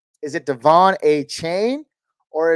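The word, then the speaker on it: De'Von Achane: man's name is it Devon a chain or is it Devon a Chan Devon a Chan okay that's what I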